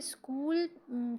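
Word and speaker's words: school: स्कूल friends यहां पे स्कूल की स्पेलिंग जो पूरी एस सी H double O एल स्कूल है इसमें हम अमूमन यह करते हैं कि एच लिखते हैं पर वो पढ़ा नहीं जाता तो एच जो होगा हमारा साइलेंट लेटर्स में आएगा प्लीज गिव मी दिस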